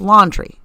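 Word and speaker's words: Laundrie: with her fiance brian laundry l-a-u-n-d pronounced laundry okay she's doing things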